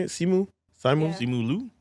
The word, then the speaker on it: Simu Liu: Simu Liu. Simu Liu.